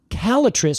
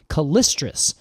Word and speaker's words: Callitris: It turns out there's about 16 species of calatric, which I have to say I have always pronounced calistrus.